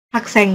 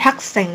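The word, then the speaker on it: 학생: bukan subj tapi sub bukan Haks bukan hakseng gitu ya, tapi hakseng. Jadi s-nya doble.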